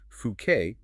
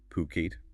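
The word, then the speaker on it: Phuket: And one last thing, just a quick reminder throughout this deep dive, we've been saying fuket as puket. That's the correct pronunciation, not fuket.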